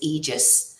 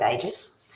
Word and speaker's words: Aegis: The real pronunciation is Aegis. However, Aussies are lazy, so we just go with Aegis.